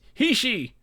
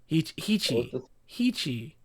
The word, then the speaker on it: Heechee: Ask Hector about Hichi. Hichi. Spell it.